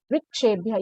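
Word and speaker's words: वृक्षेभ्यः: ठीक है, वृक्षेभ्य, यहाँ पे वृक्ष में व के नीचे री का साउंड आ रहा है, री का उच्चारण होना चाहिए, लिखने में भी री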